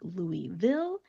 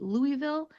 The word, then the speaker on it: Louisville: So this isn't going to be perfect, but a local from Kentucky or from the South is not going to call it Louisville. They're going to say Louisville. Louisville.